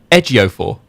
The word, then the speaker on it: Ejiofor: It's Chiwetel Ejiofor. So you're supposed to say the J.